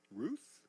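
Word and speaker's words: Routh: Blaine Ruth, we're going to say. I'm not sure about that last name. R-O-U-T-H. Yeah, that's Ruth.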